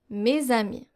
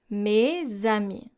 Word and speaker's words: mes amis: A liaison is when you actually link those two elements. So you take the last consonant of your first word and you link it, you pronounce it by linking it to the next vowel.